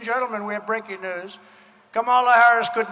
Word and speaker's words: Kamala: Suggests that if he was going to put the emphasis on the last syllable of Kamala when it's Kamala, then maybe she should do the same and refer to him as Don Old.